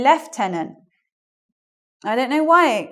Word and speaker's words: lieutenant: Lieutenant, okay? American English. But in English, we need to make it a little bit more difficult. So we say lieutenant.